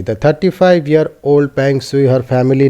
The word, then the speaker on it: Peng Shuai: Who is Peng Shui? The 35-year-old Peng Shui, her family name is pronounced Peng, and the end of her given name rhymes with Y, is a three Olympian